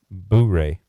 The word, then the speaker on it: Blu-ray: you pronounce that range so that is actually pronounced Blu-ray what is it it sounded like you said blue ray so I'm gonna go